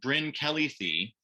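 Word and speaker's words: Bryn Celli Ddu: on the right is bryn kelly thie quick note in the welsh garlic language the double d is pronounced with a th sound so this is bryn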